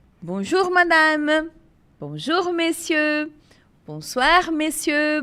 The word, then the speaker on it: bonjour: Então sempre que vocês encontrarem ó com u juntos o som vai ser de U não de ou vai ser u então é bonjour bonj bonj som de u mesmo e aqui a gente